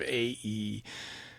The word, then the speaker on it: Ai: It looks like AI, but it's pronounced, I believe, Ae.